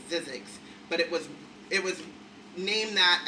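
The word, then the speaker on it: Zzyzx: And then I found out later it's pronounced Zizek's, but it was named that as a practical joke because there's no fucking way.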